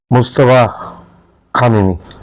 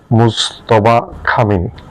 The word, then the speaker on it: মুজতবা খামেনি: মুস্তাফা খামেনি, আবার নামটি আমি উচ্চারণ করছি, মুজতবা খামেনি।